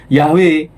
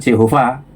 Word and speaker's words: Yahweh: Jadi, pelafalan Yabe dalam tradisi Samaria itu adalah kunci bagi Gesenius untuk menyimpulkan bahwa YHWH kemungkinan besar dulu diucapkan Yahwe bukan Jehova. Dari sinilah rekonstruksi Yahwe menjadi populer di dunia